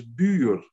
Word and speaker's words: buur: That person instinctively would have thought of the word for neighbor in Dutch, which is buur. And know that bur is the last syllable of the English word for in neighbor.